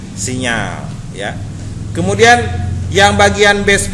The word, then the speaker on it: signal: ini untuk mengelola signal tulisannya signal tapi dibacanya sinyal ya kemudian yang bagian